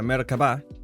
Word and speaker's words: Merkavá: entonces Empezamos el mercaba porque se pronuncia mercaba Data el inicio de